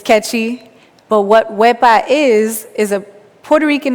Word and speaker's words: Wepa: would you say it you're supposed to carry the e for as long as you can and carry the a just as long so I won't scare